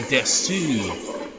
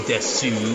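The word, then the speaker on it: です: It's like when people say desu. It's like usually it gets to be pronounced des. The u is silent. But you can say desu, but I think, like,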